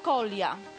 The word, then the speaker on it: kolia: z panią jak najbardziej to pronunciation brzmi przez j natomiast piszemy przez i krótkie kolia tak kolia kwiat kolia trzecie słowo